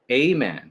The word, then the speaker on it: Ayman: Maybe give me the, A-man, just A-man. So the Y is kind of silent, I see.